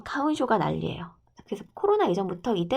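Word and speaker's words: かふんしょう: 자, 일본에서는 코로나 이전에도 이 가훈쇼라는 꽃가루 알러지 이때 마스크를 쓴 사람들이 되게 많았어. 화분증인데 화분증이니까 일본식 발음으로는 가훈쇼.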